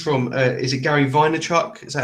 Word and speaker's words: Vaynerchuk: i heard this from uh is it gary vaynerchuk is that how you say it yeah i